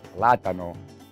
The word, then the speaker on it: plátano: It's pronounced plátano, but if you're speaking English, it's plantain because it's a plantain.